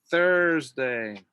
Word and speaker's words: Thursday: And then for the TH, for Thursday, don't forget, TH, your tongue between your teeth, Thursday, Thursday.